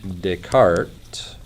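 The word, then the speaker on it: Descartes: a guy named Renee deart French so there's an s on Dart but you don't pronounce it so Dart comes along and he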